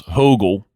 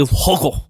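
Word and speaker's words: Högel: This guy Niles Hogel, I believe is how you pronounce his name. Like Hogel. Niles Hogel.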